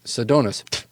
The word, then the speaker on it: Sedonas: donuts oh my gosh she says you're saying it wrong it's Sedonas and then she spits